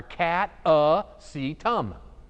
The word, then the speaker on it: Catasetum: bit yeah alright so cata sedum is simply pronounced a lot of orchids are not simply pronounced but catice items are cat a seat um nothing to it the word